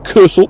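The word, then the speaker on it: Kursaal: other side as well, the Cursal, which means cure hall, by the way, because you were Cursal, which is spelled Kursall, so Cursal or cure hall.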